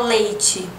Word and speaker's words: leite: Porque se a gente for pensar nas vogais, o E final, quando a gente fala leite, a gente tem um som de I, né?